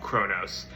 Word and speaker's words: Kronos: people's interpretation of Kronos, I'm going to call him Kronos because that's how they say it in the Percy Jackson movies, and that is what I was raised on and what I think sounds best.